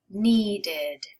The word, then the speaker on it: needed: So it's only when your word ends with a T sound or a D sound already before you add that ed. Then you're adding this extra syllable.